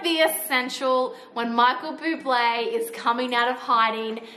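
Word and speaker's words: Bublé: brother likes come here michael bubble but it's buble just just say it properly okay this gives me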